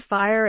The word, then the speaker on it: fire: Mr BFF's fastidious ear make the word fire in one syllable not two do not open the